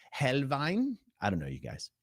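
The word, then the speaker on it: Helnwein: Gotfrieded Hel an American might say Gotfrieded Helwine, but I think it's Helvine.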